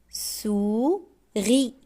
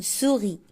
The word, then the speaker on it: souris: lit un poisson un poisson un anas ananas une souris on prononce pas le s une souris souris je déchiffre La lettre S.